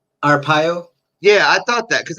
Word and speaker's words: Arpaio: Arapaya? Arpaio.